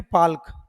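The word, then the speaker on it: Palk: जिनका नाम था हेनरी पाल्क। और जब आप इसको बोलेंगे तो ये एल साइलेंट हो जाता है, जिसको कई जगह आपको जब आप एटलस में देखेंगे तो पाल्क की जगह पाक लिखा मिलेगा।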